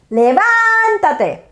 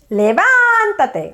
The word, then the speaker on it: levántate: And if it's more than 2 syllables, in the positive command, you're going to add a tilde on the second syllable of the original verb. So, levantarse is levántate, levántate, with a tilde over the A, levántate.